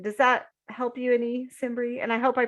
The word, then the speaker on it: Simbry: Does that help you any, Simbri? And I hope I pronounced your name right.